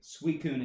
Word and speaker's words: Suicune: Suicune is the correct pronunciation.